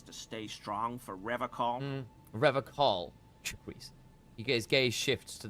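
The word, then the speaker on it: Revachol: Revacol. Please. His gaze shifts to the pile of soggy logs at his He feet. pronounces Revacol with a hard K, unlike other people.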